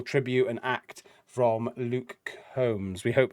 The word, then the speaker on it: Combs: I'm gonna go with Luke Combs because like a hair comb is spelled C-O-M-B, so it's just an S on the end. So I'm going with Luke Combs.